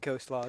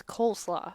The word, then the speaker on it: coleslaw: initiative down with big coast law just get rid of it you know they'd probably yell at you because you can't say it right coast law it's coleslaw say coast law hey